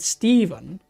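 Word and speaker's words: Stephen: I think it's because of the ph that Steven sounds better. But if you would pronounce it just letter by letter, it would be step pen. Stepen. But it's just because we say the ph is a v like yeah interesting.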